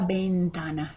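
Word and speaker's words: ventana: the window right la bentana remember the v is like a bee la and here is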